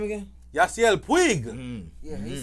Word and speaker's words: Yasiel Puig: Yasiel Puig.